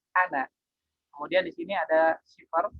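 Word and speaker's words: أنا: Jangan mengucapkan ana, itu ada syiddahnya, tapi ana.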